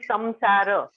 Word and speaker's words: samsara: for the love uh when we say sansar it is samsara and when we say